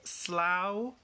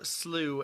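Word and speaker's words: slough: be can be pronounced slow or slu and slu is the english pronunciation and i think it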